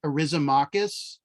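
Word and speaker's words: Eryximachus: His name is actually pronounced, and has an X in it, Arisomachus.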